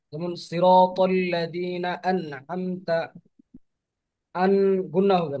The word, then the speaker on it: أنعمت: আমতা আলাইহিম, এরকম হবে না যে আম আমতা হবে না, আন আমতা হবে। আমতা, أنعمت আমতা, আমতা আর আইনটা উচ্চারণ করতে হবে গলার মাঝখান থেকে, ঠিক আছে?